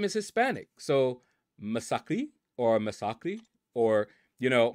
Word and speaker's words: Masaki: the first rank up is going to be masaki and I say his name that way is because his name is not massacre massacre is spelled with two s's his name is spelled with one s and he is the